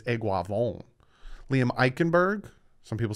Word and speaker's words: Eichenberg: mean i was close but it's eguavon liam eichenberg some people say i say his name wrong i got that right william it's eichenberg liam eichenberg i got dane clayton clayton so